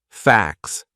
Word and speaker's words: facts: facts F A CS so that would be a silent T it's in between a c and an S two consonant sounds facts and it sounds exactly the same as FX FX then we have something